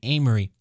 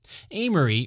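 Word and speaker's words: Aimery: Well, some historians believe that Agnes was sleeping with a man named Amory. Amory, which is spelled A-I-M-E-R-Y, invited his younger brother to come to Jerusalem, who accepted the invitation and arrived somewhere around 1180.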